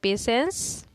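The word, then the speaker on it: patience: धैर्य को क्या बोलते हैं पेशेंस, टी साइलेंट रहती है तो इसलिए पेशेंस बोलते हैं, ठीक है, पेशेंस।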